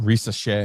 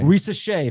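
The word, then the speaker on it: Risacher: How do you pronounce that guy's name? Risa Shea. Risa Shea.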